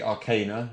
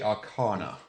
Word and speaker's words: Arcana: So the British, we say Arcana. The Americans say Arcana.